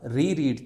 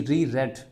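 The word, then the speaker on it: reread: रीड हम नहीं पढ़ेंगे आपको पता है कि रीड की जो सेकंड फॉर्म होती है इसके स्पेलिंग सेम रहते हैं लेकिन प्रोनंसिएशन चेंज हो जाती है यानी फर्स्ट फॉर्म तो रीड ही होगी फिर रेड रेड हो जाएगा स्पेलिंग यही रहेंगे उसके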